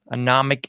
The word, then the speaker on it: anomic: Anomic age. There's only one. Say it right. Say it with pleasure. Anomic. It's not atomic, folks. It's economic.